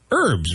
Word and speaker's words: herb: herbal yeah I said you pronounced the H I say it's a if it's a gentleman's name then it's herb yeah but there's no h sound in the spice the seasoning right exactly what I thought